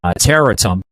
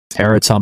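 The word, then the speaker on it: Tarentum: Terrium. Uh that's how you pronounce it, I believe. Teratum, Pennsylvania, which is right on the outskirts of uh downtown Pittsburgh.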